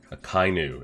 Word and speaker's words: Akainu: Akainu is how we pronounce it.